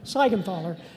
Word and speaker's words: Siegenthaler: Siegenthaler. You'd think a Steigerwald could pronounce the guy's name right, although it's constantly misspelled.